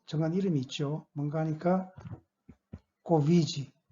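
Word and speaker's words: Covid: 뭔가 하니까 코비지, 발음은 코비지라고 발음합니다만, 예, 이거는 그 코로나 바이러스 디지즈, 그죠?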